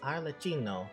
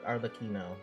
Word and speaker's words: Arlecchino: Man, that's Arlecchino or Arlecchino, depending on who you ask.